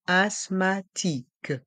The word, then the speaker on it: asthmatique: mué je suis asmatique le T et le H sont muet et le Q et le U font le son que comme la lettre K je suis asthmatique je suis asthmatique je